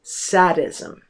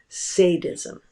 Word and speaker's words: sadism: Actually, the correct pronunciation of that word is sadism. But most people in the United States mispronounce it as sadism.